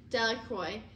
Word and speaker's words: Delacroix: of stones Bobby and Harry Jones and Dicky delacroix the villagers pronounced his name delacroix eventually made it a great pile of stones